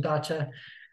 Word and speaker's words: dacha: I'm joined today by the word is pronounced gotcha well thank you for calling me out people might as I'm not actually in a Russian dacha um I'm joined today